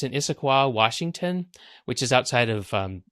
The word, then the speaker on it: Issaquah: This is Costco IT, and it's in Issaquah, Washington, which is outside of Seattle. And now you know how to pronounce that name, by the way.